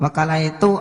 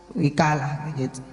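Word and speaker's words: وكالة: Wakalah dapat diucapkan dengan fathah pada waw, yaitu wakalah, atau dengan kasrah pada waw, yaitu wikalah.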